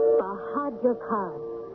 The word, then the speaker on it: Bahadur Khan: Bahadur Khan. 4 syllables.